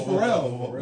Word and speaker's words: Pharrell: Oh, Pharrell.